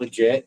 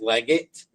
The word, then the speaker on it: Leggett: It's not legit. No, we don't. It's spelled like legit, but it's not legit. It's Leggett, and you can follow Bigfoot's tracks from there.